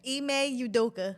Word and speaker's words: Ime Udoka: Ime Udoka.